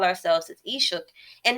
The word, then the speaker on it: Ishak: Because how you pronounce it is Ishuk.